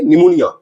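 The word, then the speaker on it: pneumonia: Means PS वाले words और पीएन वाले वर्ड्स में पी साइलेंट होगा। इसे हम लोग पढ़ेंगे निमोनिया, साइकियाट्रिक, साइकोलॉजी या फिर साइकोथेरेपी।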